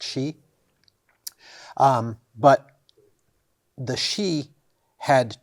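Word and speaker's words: sidhe: he e if I remember correctly but it's pronounced she um but the shei had two courts the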